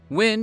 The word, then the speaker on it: Wynn: Symbolically, Win represents joy, the emotion, not the dish soap. And while the rune is shaped like a P, it's pronounced with a W sound.